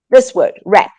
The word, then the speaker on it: wrap: only have short time, but let me just show you, for example, this word, wrap. We don't pronounce the W is silent.